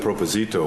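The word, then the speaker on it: propósito: Yeah, I'm just asking you now, what is, when you said proposito, what did you I don't mean?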